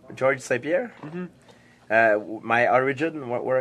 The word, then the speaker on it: Georges: Everybody call me George, but it's Georges. Georges. Yes. I'm gonna start saying French. it like that. Okay, Georges. Like John in English, and in French it's Jean. G-E-A-N.